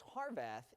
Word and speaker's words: Harvath: pronounce Scott's last name heart H so it's harvath and harveth is actually